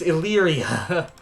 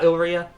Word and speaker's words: Illyria: it was over here I keep saying it wrong and I know it it's Illyria yes we will I do have Illyria for the letter i and we can get the man himself oh not Elyria Elite t but look